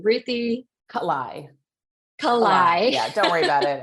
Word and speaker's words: Kalai: how do you say your last name Ruthie kalai yeah don't worry about it everyone gets it